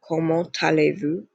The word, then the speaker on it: comment allez-vous: So it'd be comment allez-vous? Again, do not pronounce that S.